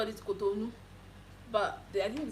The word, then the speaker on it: Cotonou: Oh, the only country that I know that I've been to so far is Cotonou.